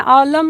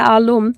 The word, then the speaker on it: আলম: না আলম একটা ইন্টারেস্টিং বিষয় হচ্ছে আমাদের যে নাম আমরা বাংলাদেশে যেটাকে বলি হচ্ছে আলম। হুম, আমিও অনেক সময় যেভাবে উচ্চারণ করে দরকার কি এত কারেক্ট করার শব্দটা হচ্ছে আলাম।